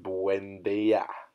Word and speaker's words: Buendia: Number 7, Jim Buendia.